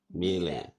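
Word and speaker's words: Miele: usually say something like mil. Um, so it usually sounds more like an a in the end, whereas in German we say mil. So the last letter is just a little bit different.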